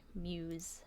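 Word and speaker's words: Mewse: It's spelled M-E-W-S-E, Muse. Like a kitty sound.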